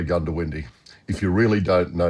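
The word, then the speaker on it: Goondiwindi: First of all, how do you pronounce the bloody place? Well, look, um, most people say Gundowindi.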